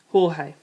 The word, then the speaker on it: Jorge: called me George and everyone pronounced my name the Spanish way Jorge pointing this out to